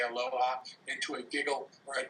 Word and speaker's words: aloha: And the last syllable is ha. And that's perfect for us. We just roll the ha part when we say aloha into a giggle or